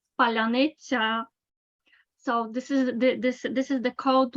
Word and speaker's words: паляниця: Petrenko says that there is a word that distinguishes Ukrainians from Russians because only Ukrainians can pronounce it properly. Palyanitsa, Palyanitsa.